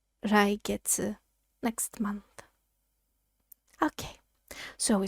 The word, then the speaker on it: 来月: It's pronounced 来月.